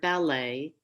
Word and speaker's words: ballet: So in that word ballet, we don't pronounce the T.